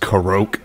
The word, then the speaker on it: Korok: Is this a Korok? It's pronounced Karok.